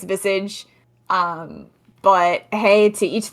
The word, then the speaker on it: Visage: Vice age uh nobody it's not Vice age it's not but I've heard people say it nobody knows how to pronounce that game if you know I think it's Vis um but hey to